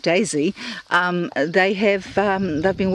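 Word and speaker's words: DESY: but who this who one is called Daisy but it's spelled d-e-s-y so I looked it up and lo and behold what did I find but in this place called Daisy um they have they've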